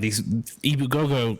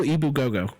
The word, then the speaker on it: Ebu Gogo: It's just phonetically spelled the same way. Ibu Gogo, EBU space Gogo.